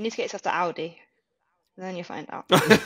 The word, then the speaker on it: Aldi: Audi and Aldi. So Aldi Okay. is a supermarket, and then Audi, because there's no L, is the car.